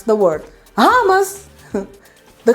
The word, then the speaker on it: hummus: you know everything now and you're able to pronounce the word hamas the correct way homos all right i hope you like this lesson